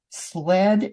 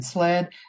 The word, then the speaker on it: Slead: because they might not the way I pronounce it and the way it's spelled may not be exactly the same.